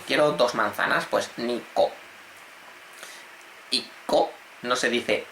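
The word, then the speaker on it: 一個: Pues nico, iko, no se dice icho, ya os estaréis dando cuenta, pero normalmente el uno siempre no se dice ichi casi nunca, siempre va a ser iko.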